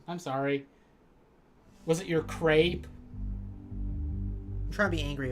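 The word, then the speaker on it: crêpe: death says crepe it's crepe Jody I'm sorry to burst your the French pronunciation is crap I'm sorry to it's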